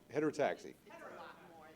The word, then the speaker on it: heterotaxy: Is it heterero taxi? Is that how you say that? Or I don't want to mess up the wording. I believe it is hetereroaxi, but we'll give a pronounce heterotaxi.